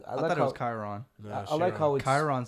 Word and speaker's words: Chiron: for the experience Bugatti Chiron Chiron I say Chiron okay I'm American I like the way is that how the Europeans say it shiron I think that's that's how you say it yeah I I